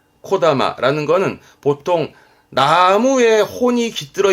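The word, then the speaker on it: 木霊: 나무의 정령인데 발음은 코다마, 코다마라는 거는 보통 나무에 혼이 깃들어 있다는 얘기니까 산에 가서 야호 그러면 울려 퍼지는 그 메아리를 이렇게 쓰기도 합니다.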